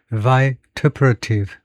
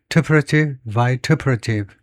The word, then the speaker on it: vituperative: 그래서 발음을 다시 한번 여러분한테 보이면 vituperative, vituperative.